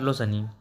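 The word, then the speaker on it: listen: है मतलब कर लो ब्रेकफास्ट सनी नाश्ता कर लो सनी थैंक यू वाक्य में कुछ मोक्ष शब्द वाक्य में कुछ साइलेंट लेटर इन शब्द सैम साइलेंट लेटर एंड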